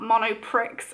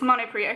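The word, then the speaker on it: Monoprix: spell it just here it's monopory it's not mono Pricks okay it's monopriate okay they do their own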